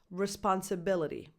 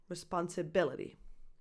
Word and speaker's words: responsibility: the stress on the wrong syllable this is pronounced responsibility responsibility the primary stress is on that bi b syllable responsibility and I'm very happy to say that this